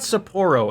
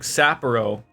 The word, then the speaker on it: Sapporo: It's not Sapporo, it's like Sapporo.